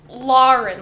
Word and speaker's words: Lauren: i actually say it so it's lauren like if you are from boston because in boston they